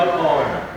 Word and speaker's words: honor: We want to see which are these examples of these words that are silent, or that H is silent in these words.